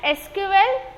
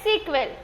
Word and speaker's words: SQL: ठीक है, इट is pronounced as एसक्यूएल और समटाइम्स सीक्वेल। दो प्रोनाउंसिएशन है, आप एसक्यूएल भी बोल सकते हो या तो सीक्वेल भी बोल सकते हो, दोनों सेम ही है, सिर्फ प्रोनाउंसिएशन का अलग है।